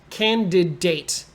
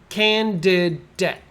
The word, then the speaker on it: candidate: first word is a candidate candidate so it's can de de this looks like date but you don't need to say date candidate that's too hard say it like it's d-e-t debt candid debt okay three parts so